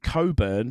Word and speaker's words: Cockburn: Nigel uh Coburn and he pronounced it Coburn but spelled it [